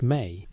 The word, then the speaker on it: me: The Sumerian term is me, pronounced may, which doesn't translate cleanly into English.